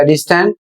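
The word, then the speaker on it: distance: अगला शब्द है डी आई एस टी ए एन टी और इसे पढ़ा जाएगा डिस्टेंस।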